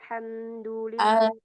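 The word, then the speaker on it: الحمد لله: selanjutnya alhamdulillahiabbil alamin silakan Alhamdulillah alhamdulillahirabbilam Masyaallah ini hati-hati sekali ya dalam ee dibahas juga Alha jangan sampai ke Ha Ya ini ha di tengah tenggorokan Alha Alha ya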